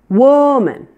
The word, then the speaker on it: woman: me book good now both words are stressed on the first syllable so that means that the WOM is louder and longer our first syllable holds